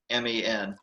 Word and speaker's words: Xiamen: It's a shaman. It's like an Indian shaman is the pronunciation, but it's Xiamen.